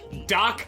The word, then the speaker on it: Djoc: and it is uh doc unchained but it's spelled dj oc i don't need that the j is silent you know what i